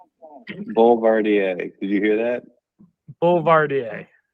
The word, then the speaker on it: Boulevardier: We are drinking the Boulevardier, and because neither Greg or I were 100% sure how to pronounce the drink, we asked Google. So Google, hit it. Boulevardier.